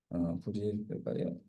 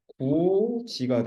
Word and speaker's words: 굳이: 그래서 그러니까 남자애가 발음을 정확하게 한다고 굳이 이렇게 합니다. 자, 남자가 얘기해요. 부디 속초까지 같이 가서 해돋이를 봐야겠니? 이렇게 얘기하면 되냐 안 되니? 안 되겠죠? 정확하게는 어떻게 되는 거야? 구지가 됩니다. 구지, 그치?